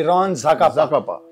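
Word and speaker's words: Ron Zacapa: अच्छा, इसका प्रोनाउंसिएशन भी रॉन ज़ाकापा।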